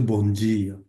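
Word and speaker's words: bom dia: যেমন আমরা যদি বলি বোয়া তার্দ, ওরা বলবে হচ্ছে বোয়া তার্জে। আমরা যদি বলি বন্দিয়া, ওরা বলবে হচ্ছে বঞ্জিয়া।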